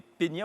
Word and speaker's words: peñas: On parlait des peñas ou des peñas, comment ça se prononce? Peñas.